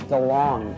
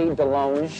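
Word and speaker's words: DeLonge: Gary's chicken and ribs I am Tom Del long but it should be Delong cuz I went to France and they said you're pronouncing it wrong I'm all DeLong know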